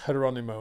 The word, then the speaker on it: Geronimo: But in Spain, it's actually pronounced Geronimo, and they call him Hero, which is quite cool, isn't it?